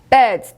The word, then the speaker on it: beds: 자, 그 다음에 beds, 침대, beds, beds. 이것도 Z 소리가 나는 거.